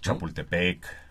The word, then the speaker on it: Chapultepec: Que no lo podían pronunciar bien, entonces le quitan la TL y le ponen una C, un sonido Como K, ¿no? Chapultepec. Así es, por en realidad es ejemplo. Chapultepetl, ¿no?